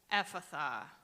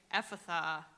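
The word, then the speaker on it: Ephphatha: back of the throat whereas the Aramaic Epatha is pronounced with the breath in front of the lips so again here mark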